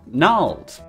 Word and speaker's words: gnarled: Oh, we use plenty of silent G's. You better help me, or how will we ever pronounce, gnome, or gnarled?